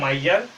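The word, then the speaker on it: miser: है, क्या कहते हैं माइजर या फिर माइसर भी बोल सकते हो, इसको जो है माइजर उच्चारण करते हैं, ठीक है, माइजर, माइजर मतलब क्या होता है कंजूस।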